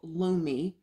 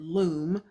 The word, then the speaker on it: Lume: lately off-guard but yeah this deodorant is called Lu me I have been pronouncing it wrong I was pronouncing it in loom but this is supposed to be an all-natural deodorant that was developed by dr.